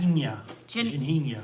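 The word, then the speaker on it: Ginjinha: How do you pronounce that? Ginhinha.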